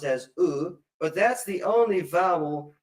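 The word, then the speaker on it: ו: There's only one exception to this rule, and that is the conjunction wow, which is sometimes pronounced as oo. So go back to video number 6 to learn when it is pronounced as oo, but that's the only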